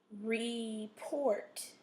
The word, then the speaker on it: report: accent is is okay report Port has the o sound it's going to be there you're going to um put your accent or your stress in the second syllable okay border when you